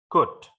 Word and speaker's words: could: Ini jadi bacanya could, jadi bukan told. Jadi huruf O sama L-nya tidak dibaca. Jadi cara membacanya adalah could.